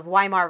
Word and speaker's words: Weimar: But really, W's are pronounced like V's, and in German. Yeah. Yeah, so the And Weimar the V Republic.